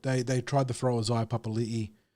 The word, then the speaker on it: Papali'i: They tried to throw Isaiah Papali'i, which is the correct way of pronouncing that, Papali'i, at him, and he managed to cut him down a few times.